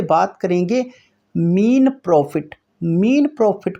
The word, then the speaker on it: Mesne: बहुत सारे स्टूडेंट इसको बोलते हैं मैसने प्रॉफिट। तो दोस्तों, यह मैसने प्रॉफिट नहीं होता। ये होता है आपका मीन प्रॉफिट। इसमें एस साइलेंट रहता है।